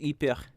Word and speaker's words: Ypres: I keep wanting to say Ypres, but it's really pronounced Ypres. That's how my Flemish family pronounced it. Ypres. That's the Flemish way of pronouncing Ypres.